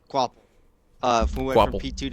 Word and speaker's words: Capel: That's not how you say it. There's no W. Quapple.